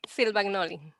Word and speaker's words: Silvagnoli: Silvagnoli.